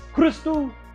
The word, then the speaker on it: Christou: It opens up like a real talk show from the 70s, introducing the rest of the characters like Christou, you gotta say it like that, Christou, the psychic.